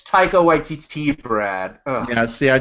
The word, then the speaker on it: Taika Waititi: Will, I know you're going to like snootily correct me when I pronounce it wrong or something. Okay. But is it Taika Waititi? No, it's Taika Waititi, Brad.